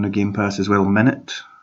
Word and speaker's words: Minit: Oh, there was another small game I played on the Game Pass as well, Minute. It's spelled like MINIT, but also it means like minute as in 60 seconds, because basically you play 60 seconds at a time.